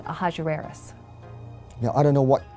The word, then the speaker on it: Ahasuerus: Now, that was hard for the Jews to pronounce, so they said Ahasuerus. We know him as Ahasuerus.